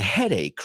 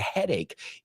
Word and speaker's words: headache: Because you're going to start to get a headache, right? Eventually, a la larga, you're going to start to get a headache. Y ojito con la pronunciación, no es headache, sino headache.